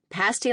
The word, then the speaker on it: pasty: Same spelling. But if you mix it up around here, you'll never be taken seriously as a journalist or human really again. Got it. Pasty like nasty meat pies.